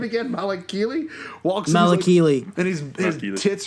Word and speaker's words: Malakili: Malakili walks.